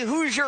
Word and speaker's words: Hoosier: So sorry, Indiana, but today Hoosier rhymes with loser.